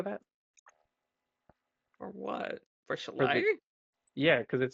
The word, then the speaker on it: Shillelagh: Chalet. Hmm. It is. It's pronounced chalet. I know how it Shillelagh. looks, but it's pronounced La Okay.